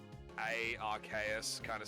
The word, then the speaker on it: RKS: yeah so rks system so rks is how you're supposed to pronounce it that is my reasoning